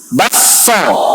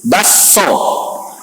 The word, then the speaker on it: bakso: Memasukkan kaf ke dalam sin dan ditasydid sinnya. Bacanya gimana? Basso. Itu di Makassar. Ada idgham di Makassar. Kalau nggak percaya, coba tanya-tanya orang Bugis. Basso, idgham.